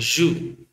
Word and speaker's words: jus: So the last letter you have to omit, okay, because it is a consonant. So now let's spell it. G-U-S. G-U-S. But when you pronounce it as a word, ju and ju, that means, okay, let's